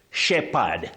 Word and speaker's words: shepherd: P and h don't function as a diraph. You say shepherd.